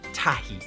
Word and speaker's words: tahi: Number 1 in Māori is tahi.